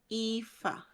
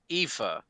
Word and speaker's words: Aoife: How did you say her name is pronounced? Aoife. Aoife.